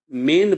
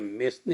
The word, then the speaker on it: mesne: ये मेन profit का spelling है MESEN, जिसको क्या आप ऐसे सिंपल टर्म में पढ़ेंगे तो यह मेसने होगा। ठीक है ना, मेसने प्रॉफिट होगा, लेकिन ये लैटिन वर्ड है और इसमें यस साइलेंट है, इसीलिए यह मेन प्रॉफिट है।